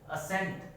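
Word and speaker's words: ascent: असेंट, यहाँ C क्या है? साइलेंट है। असेंट मतलब जो S की साउंड आ रही है C की साउंड नहीं आ रही है, तो यहाँ C क्या है? साइलेंट है।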